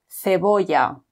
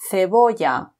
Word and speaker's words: cebolla: Whereas if C is before E or I, it is pronounced like a th. So for example, cebolla or cine. Again, cebolla or cine.